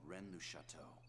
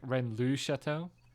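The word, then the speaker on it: Rennes-le-Château: this object is called Renu chateau it bothers me so much that they're all mispronouncing the Le in redness chateau it's like Ren Lu chateau there's no way to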